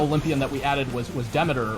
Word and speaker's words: Demeter: So when the time came, the final Olympian that we added was Demeter, or we pronounce it that way, Demeter, however you prefer to pronounce her name.